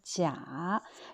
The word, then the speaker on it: 假: Ensuite, le mot 假 ou 假 de prononciation, quand c'est le troisième ton, 假, c'est un adjectif ou un adverbe qui veut dire faux ou artificiel.